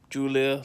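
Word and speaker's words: Giulia: that's how it's pronounced Julia like Julia Roberts not spelled that way of course course but you know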